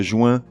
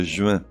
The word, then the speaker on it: juin: baignoire le mois de juin mais le mois de juin un agenda mais un